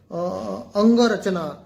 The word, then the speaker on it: अंगरचना: ये अंगरचना है actually, it's actually pronounced as अंगरचना.